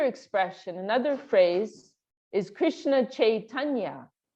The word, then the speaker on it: Chaitanya: So what does Krishna Chaitanya mean? Actually, we're all pronouncing it wrong. Bengalis, they say Chaitanya. It's a little difficult for the Western. Chaitanya, like that.